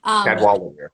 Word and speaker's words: Cadwallader: I'm gonna say his name wrong. Cadwallader. Yeah. Am I saying that right? Cadwallader. Uh-huh.